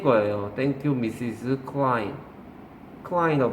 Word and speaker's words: Klein: Klein이라고 발음하죠.